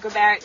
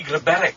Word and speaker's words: Grabarek: Grabarek, like G-R-A-B-A-R-E-K.